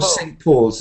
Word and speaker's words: St Paul's: St St Paul's St this is short for St Paul's it can be street or Saint and we know here